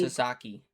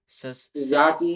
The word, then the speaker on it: Sasaki: pitching splits for is this how do I pronounce Sayaki? Sasaki. Sayaki.